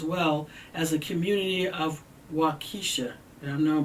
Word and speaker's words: Waukesha: were injured as well as a community of wakisha and i've known pronouncing this wrong w-a-u-k-e-s-h we are deeply saddened